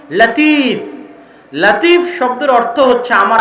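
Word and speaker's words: لطيف: মানে লতিফ আল্লাহর নাম। কিন্তু সঠিক উচ্চারণ হচ্ছে লাতিফ। সঠিক উচ্চারণ কি? লাতিফ। লতিফ এটা সঠিক উচ্চারণ নয়। লাতিফ হচ্ছে সঠিক উচ্চারণ।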